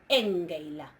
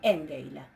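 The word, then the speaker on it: ἤγγειλα: Engeila, ¿sí? Engeila, ¿sí? Acuérdense por las dudas que estoy pronunciando ese engeila con eso, o angelo. Fíjense que estoy pronunciando la gama antevelar, que se pronuncia como una nu, ¿sí?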